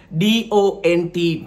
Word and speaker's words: don't: We, D-O-N-T, don't. But we pronounce it do.